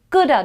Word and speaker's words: could have: They say I coulda have done this better, I coulda done this better, so It's could have, coulda, coulda. You coulda go, you could have done this lot better, coulda, could have, coulda.